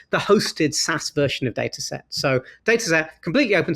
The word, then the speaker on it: Datasette: um that that's called data set Cloud it's data set. Cloud as opposed to data set which is dataset doio spelled like the word cassette so it's da a a